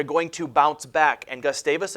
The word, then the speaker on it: Gustavus: Gustavus is spelled G-U-S-T-A-V-U-S.